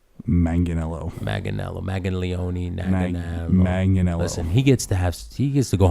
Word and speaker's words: Manganiello: Can we just Joe Maglione, you magnificent bastard? Okay, say with me. Manganiello.